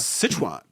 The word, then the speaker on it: Sichuan: was and like Sichuan food yeah yeah it's Sichuan man like and so I go back and they're like oh do you like such one film like I live there and it's not Sichuan but more like Nan King yeah I mean